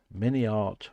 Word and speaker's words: MiniArt: wise modeler once said mini art rhymes with multiart that's true I like